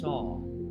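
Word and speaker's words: Sau: breath flows out words saw like a carpenter saw i am on the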